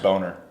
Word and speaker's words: Bomer: It's pronounced Boner.